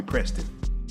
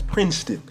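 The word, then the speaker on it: Prinston: Princeton Peak but it's not spelled like the school it's pronounced like the school please don't call me Preston please don't do it I'm saying around its Princeton but it's P R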